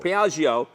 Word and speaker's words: Piaggio: Piaggio.